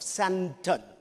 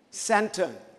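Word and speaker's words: Sandton: And I'm presently the pastor of Santon. It's a D, but the T is silent. Santon.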